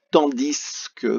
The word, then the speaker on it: tandis que: Donc, on va avoir le temps, T-A-N, dit ou tandis que, parfois on le prononce.